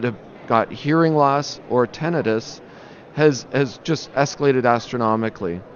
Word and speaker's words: tinnitus: Is it tinnitus or tinnitus? Well, and that's a good question because I think the actual pronunciation is tinnitus, but almost universally people pronounce it as tinnitus, right?